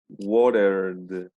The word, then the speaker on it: watered: esto va a pronunciarse, we're gonna pronounce it as a D. This is it. So the pronunciation would be watered. Okay, the ED is going to be with a D.